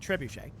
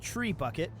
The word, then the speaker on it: trebuchet: on their wraith and trebuchet so that's fine whereas I like to pronounce it tree bucket it's a a very